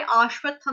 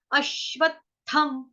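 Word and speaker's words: अश्वत्थम्: तो यहाँ पे आश्वत्थम नहीं है, अश्वत्थम, अ से अनार, अश्वत्थम।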